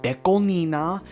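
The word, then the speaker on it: DECO*27: I know it's pronounced Deco Nina, 27 just sounds better for the normies.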